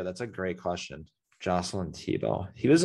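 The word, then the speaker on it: Thibault: no so it's t-h-i-b-a-u-l-t t-bolt but it's pronounced like tebow joseph huh i have actually no idea that's a great question jocelyn tebow he was like he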